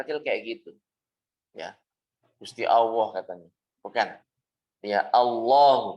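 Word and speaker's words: الله: katanya bukan Ya Allah dan harus dibaca panjang ya dibaca panjang minimalnya seperti Mad Thobi'i walaupun bukan pada saat membaca Alquran walaupun ketika pengucapan sehari-hari Gusti Allah marilah kita bersyukur kepada Allah dalam bahasa apapun lamnya Ini harus kita panjangkan maksudnya tidak dibaca pendek seperti biasanya seperti biasa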